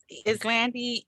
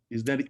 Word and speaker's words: Yselande: Yes, Islandi, Islan, Yselande with Island. whichever way you want to pronounce it. I answer by both.